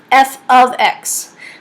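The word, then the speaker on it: f(x): on the side here this is pronounced f of X it is not F times X definitely not x times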